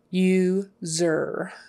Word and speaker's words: user: user user user user user that U is like a y o u like the word you you Zer user um how many